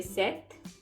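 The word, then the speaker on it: sept: we say six and four seven we say set and for eight we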